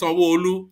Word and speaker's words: Sanwo-Olu: But it's Sanwo-Olu.